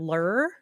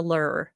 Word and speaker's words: Lrrr: Um, I was going to name him Lur after Lur, the ruler of Omicron Persei 8, but he is kind of a crybaby.